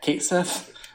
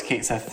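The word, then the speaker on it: Cait Sith: Yes, I've heard that it's in the next game when he comes out, they're probably going to say it like Kate C, cat C, because that's how they say it in Japan.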